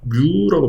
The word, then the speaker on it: 뮤: 그래서 종변형률 분의 횡변형률은 뮤라고 표현합니다. 이거 뮤라고 읽어요. 뮤. 우리가 마이크로의 단위로도 쓰긴 하지만 읽을 때 뮤라는 단위입니다.